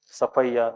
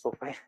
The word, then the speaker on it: Sophia: So all this Baldwin, this Bishop Cotton, Safaya. What is this? Sophia? No, Sophia. It is Safaya. So those who are born and brought up in Bangalore, they know it very well.